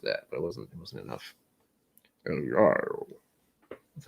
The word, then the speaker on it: El Gallo: El Gallo. That's how his name's pronounced.